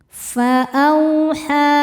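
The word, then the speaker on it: فأوحى: Fa'auha, ha hukumnya mad jaiz munfasil sebab ada mad tabi'i yang bertemu hamzah dalam 2 kata. Mad tabi'inya adalah fathah panjang pada kata fa'auha ya, kata pertama. Kemudian hamzahnya yang i masuk ke kata kedua yaitu ila. Maka haknya panjang, boleh 4 boleh 5 harokat.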